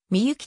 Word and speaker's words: 神幸: 行われている信仰とはみゆきと読み神入れましの